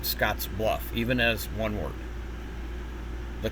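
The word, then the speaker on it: Scottsbluff: Um, other synthesizers will pronounce it Scotsluff, but it's actually pronounced Scotsluff even as one word.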